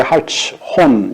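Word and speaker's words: Hartshorne: 하트숀이라고 하는데 하츠혼 이렇게 발음이 다양하게 나타나게 되는데 하츠혼이라고 이렇게 하는 게 낫겠습니다.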